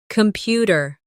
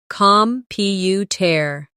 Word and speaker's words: computer: Computer. The stress is on the second syllable. Compu tear.